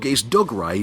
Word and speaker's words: Dougray: Do you know the actual story of Dougray Scott? No, I don't. I can't even pronounce his name Dougray properly. Scott. It's Doug Ray, but he's pronounced Dougray apparently.